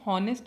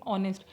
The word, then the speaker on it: honest: ये वर्ड है ऑनेस्ट, इसमें एच लिखा हुआ है। हम इसको हॉनेस्ट नहीं पढ़ेंगे, हम इसके प्रोनाउंसिएशन करेंगे ऑनेस्ट। मतलब जो एच है यहाँ पे वो क्या रहेगा? साइलेंट रहेगा।